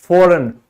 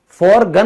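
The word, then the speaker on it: foreign: Example देखें, विदेश, विदेश को इंग्लिश में क्या कहते हैं? फॉरेन। फॉरगन नहीं बोलेंगे ना, तो क्यों नहीं बोलेंगे? क्योंकि ये साइलेंट है।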